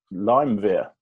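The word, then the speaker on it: Lyumjev: more i'd be okay it's lime veer lime veer okay lime beer that's the proper oxford english dictionary pronunciation got it okay american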